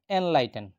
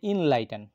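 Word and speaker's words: enlighten: এরপরের শব্দ ইনলাইটেন, এটি একটি ভার্ব কিন্তু আমরা বলে থাকি এনলাইটেন, অর্থ আলোকিত করা, মূলত উচ্চারণ হবে ইনলাইটেন।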